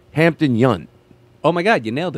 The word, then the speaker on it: Hampton Yount: It's Hampton Yount.